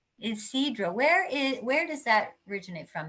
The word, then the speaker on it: Ysidro: Now, I've already forgotten this pronounced Ysidro. Ysidro.